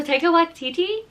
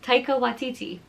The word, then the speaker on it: Taika Waititi: My favorite, I love Joe Keery and like everything he does, and also Taika Waititi. Oh my god, I feel like I said that name wrong. Taika Waititi.